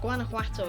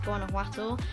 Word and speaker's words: Guanajuato: So Guanajuato is the main city. I think I'm pronouncing that right in the Spanish pronunciation.